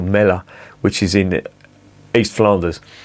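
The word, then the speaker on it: Melle: A fella called Leon Huyghe, he came to a place called Mel, I think it's pronounced, or Mella, which is in East Flanders.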